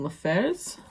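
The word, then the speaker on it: LaFevers: Grave Mercy by Robin LaFers. Yeah, that's how you pronounce it.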